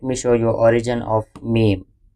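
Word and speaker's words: م: show you origin of meem prounce letter mem by joining both lips together pronounce letter meme by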